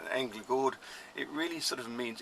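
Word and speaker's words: Änglagård: people mispronounce as being anger guard because they're not pronouncing the Swedish letters here angry bored it really sort of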